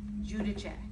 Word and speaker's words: Giudice: So the right way to say it in Italian is Giudice. Okay.